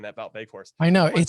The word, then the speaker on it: Wout Weghorst: Stars Wout Weghorst. And it's spelled with a W, right? You pronounce the W's as V's, but whatever.